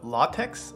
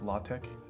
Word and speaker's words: LaTeX: Do you know LaTeX?